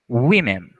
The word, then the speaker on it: women: Quando a gente fala de mulher e mulheres, a pronúncia tem uma variação. A primeira você vai falar woman, repetindo, woman, e no plural, women, repetindo, women, tá?